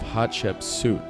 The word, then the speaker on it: Hatshepsut: So the proper way to pronounce it is the Temple of Hatshepsut.